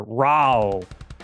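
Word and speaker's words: Raoh: We have to say it like the announcer. Raal.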